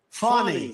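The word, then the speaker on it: Fani: these local cases like funny funny it's spelled Fanny it's spelled Fanny like your ass right he's so funny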